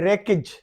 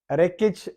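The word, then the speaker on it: wreckage: वो वर्ड्स, वो अल्फाज जिनमें डब्ल्यू साइलेंट है, जैसे ये डब्ल्यू है फर्स्ट लेटर, तो ये है रेकिज, रेकिज मलबा वगैरह। Rain, W आर ई N, rain, W silent है।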